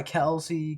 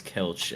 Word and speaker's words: Kelce: They were talking about how Kelsey's name could be Kels, and he was just saying everybody's been saying it wrong the whole time. And he was like, "Yeah, man, I go by Kelsey, Kels," and I was like, "Bro, what? We've been saying his name wrong this whole time. It's Kels."